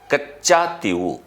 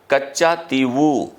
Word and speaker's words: Katchatheevu: procession के आधार पर अलग-अलग तरीके से उच्चारित कर सकते हैं कच्चा तिव या कच्चा तिव द्वीप भी इसे कहा जा सकता है अगर आप अंग्रेजी प्रोसेशन